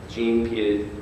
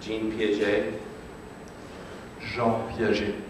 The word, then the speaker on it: Jean Piaget: Sir, could you tell us the proper pronunciation for Jean Piaget? Jean Piaget.